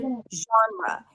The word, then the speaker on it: genre: A j sound, the as in father, and an N. Jean. Jean. The second syllable is quick and short. It's an R sound and a schwa.